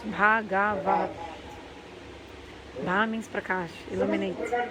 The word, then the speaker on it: Bhagavat: So Bhagavat, four syllables. Bhagavat.